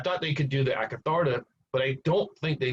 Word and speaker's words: Akatharta: Akatharta.